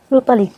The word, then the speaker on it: রূপালী: মানে আমি আমার মা বোনদের কাছ থেকে আর কি, ওদের কাছ থেকে জানতে পেরেছি যে আমি নাকি রূপালীর জায়গায় উপালি বলতাম তখন।